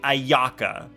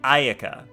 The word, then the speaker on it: Ayaka: So like you don't say Ayaka, you say Ayaka, because you don't stress the second A. There's no such thing as stress on vowels in Japanese.